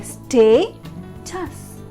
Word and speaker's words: status: speak it as chatters it's stay s-t-a-y stay tus tus stay tus okay he has purchased